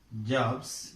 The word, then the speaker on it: jobs: For example, here, take for example, job. The end of the word is b. To make it plural, we use s. Jobs, actually it should be pronounced as jobs, but not jobs. It is pronounced as, this sound is pronounced as z, jobs.